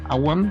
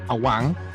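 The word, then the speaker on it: Awan: libro de los jubileos agan era agan se escribe con una W ahuan era la esposa y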